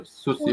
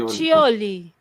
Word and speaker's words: Cuccioli: Is it Cuccioli or Sucioli? Cuccioli. Yeah. Sucioli. Cuccioli, Malati. That's how you pronounce it in Italian.